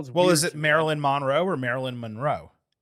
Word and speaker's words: Monroe: Like it's just and it's muhn like in terms of the you know pronunciation guide like Marilyn Monroe. Okay. So I'll start saying uh Blake Monroe.